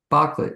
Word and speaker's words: Bocklet: I should mention Elizabeth Bocklet. Am I pronouncing it correctly? You are?